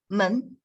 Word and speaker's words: 门: 门, and that's the second tone, right?